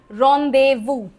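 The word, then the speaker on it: rendezvous: रोंदेवु जेड का कोई role नहीं है।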